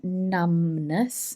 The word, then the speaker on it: numbness: me numbness and again listen to the pronunciation numbness numbness this B is silent and numbness is the